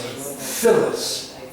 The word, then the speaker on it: Phyllis: dialogue what is this thing is but is pronounced Phyllis those PHY ll is Phyllis is a name